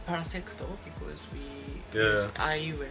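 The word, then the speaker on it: パラセクト: Parasecto. Ok. In Japanese pronunciation, parasecto, because we Yeah.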